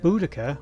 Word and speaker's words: Boudica: so boudicca or bolacier and there's always been a debate as to which pronunciation is correct because obviously there's no recordings of her name from that time period it's all wrote down translations blah blah blah i'm going to stick with boudicca because that's the one